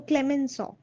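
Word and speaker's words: Clemenceau: So Britain and France is another French is also a very difficult language. So, Clemensaw, it's Clemensaw also. It doesn't match the spelling.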